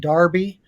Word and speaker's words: Derby: original versions of the Oaks and Darby that's how you say it over in England that'll be at Epsom